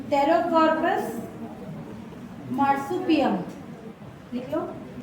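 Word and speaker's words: Pterocarpus: लिख रहे स्पेलिंग लिखिए पी टी ई आर ओ सी ए आर पी यू एस P silent है ना रो कार्पस एम ए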